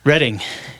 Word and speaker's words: Reading: and and originally from Reading Pennsylvania Reading yeah you got it see I'm not from there so I don't pronounce it right so um what brought